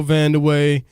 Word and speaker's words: Vandeweghe: stashed away somewhere but you got a Coco vanderway you've got a Venus Williams man 20 years